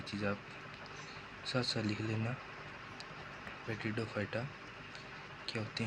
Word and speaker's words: Pteridophyta: कई लोग इसको पेट्रिडोफाइटा बोलते हैं। सही इसका उच्चारण टेरिडोफाइटा होता है।